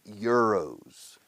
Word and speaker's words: euro: Empieza por la letra E. Entonces es vocal. Sin embargo, es sonido de Y pura inglesa.